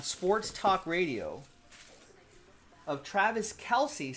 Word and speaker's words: Kelce: You know, I heard just today on Sports Talk Radio of Travis Kelce saying on a podcast that his last name is actually pronounced Kels.